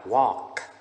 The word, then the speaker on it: walk: Chữ này bạn đọc là walk.